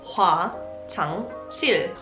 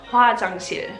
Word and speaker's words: 화장실: The way to say toilet is 화장실. 화장실. 화장실. I feel stupid making this video, I don't know why. If you wanted to put it into a sentence, 화장실 어디예요?